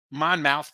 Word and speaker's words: Monmouth: We got Maryland on the money line, Delaware +7.5, Monmouth +5, Lindenwood +7, Eastern Illinois +7.5, and Utah under 148.5. I know it's pronounced Monmouth, folks.